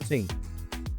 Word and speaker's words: thing: Spell thing. T-H-I-N-G. And how we just pronounce it? Ting. So why T-H-A-T is that, but T-H-I-N-G is ting?